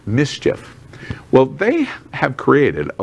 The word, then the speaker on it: MSCHF: It's pronounced mischief.